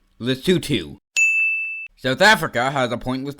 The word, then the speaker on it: Lesotho: Lesotho and It's pronounced Lesotho.